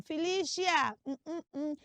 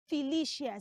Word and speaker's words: Felicia: know but you see that name is not pronounced Felicia now let's break it down the first cele is f say f f good the second C is l l good and then the last syllable which is c i a does not have any sheer in it the C is not making the sound sh the letter C in that name makes the sound s like your circle